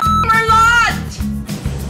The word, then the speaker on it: Merlot: you I'm not drinking any Merlot it's pronounced Merlo and I don't drink that either